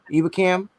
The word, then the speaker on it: Ebukam: Ebukam.